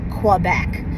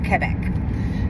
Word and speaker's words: Quebec: And I realized also that I've been pronouncing Quebec incorrectly this whole time. It's not Quebec, it's Quebec.